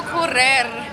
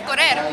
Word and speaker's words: correr: It's because you're trying to go correr, and it's not. It's you don't say it like that though, it's correr. Correr. It's like a D sound. Yeah, it's more of a D than an R.